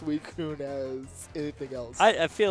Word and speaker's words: Suicune: It's not even C-I, it's C-U.